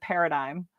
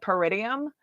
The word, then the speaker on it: paradigm: I can't tell y'all how hard I suffered with the word Paradigm Paradigm Paradigm Paradigm I think I was calling it peridium but you can't fault people